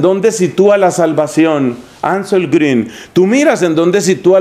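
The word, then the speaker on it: Grün: ediciones paulinas anselmo green grn pero esa uva con diéresis y es la uv alemana y se pronuncia green bueno pues sanz el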